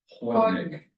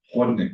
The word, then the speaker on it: Chłodnik: Chłodnik. Chłodnik. Which is? Chłodnik. It's spelled chłodnik.